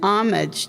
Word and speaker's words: homage: It takes a poet to raise a town, an homage to Veranda Porche. Homage, it's silent H is like a ladder with one distant rung, and those are Veranda Porche's words.